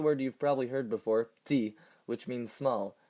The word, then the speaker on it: petit: Take the word you've probably heard before, petit, which means small. This is the masculine form, and notice the silent T.